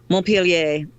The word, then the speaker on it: Montpellier: it's Montpelier Children's House how do you pronounce Montpelier Montpelier Montpelier this is the very angle-sized version Montpellier okay thank you thank you